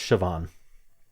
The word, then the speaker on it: Siobhan: Okay, it's pronounced Siobhan, which is not clear from the spelling, but it's because it's Irish. I was right about it being Irish at least. So, Siobhan does start with a shh sound without sh.